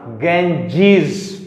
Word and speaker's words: Ganges: तो यहां पर इसका प्रोनाउंसिएशन क्या होगा, प्रोनाउंसिएशन क्या होगा, गैंजीज।